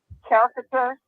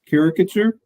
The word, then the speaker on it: caricature: making and I can never say this word character caricature yeah the person who makes the funny uh